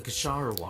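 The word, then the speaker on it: Kshahrewar: now you're the renowned cave light of the kasharawa oh that's how you say it besides okay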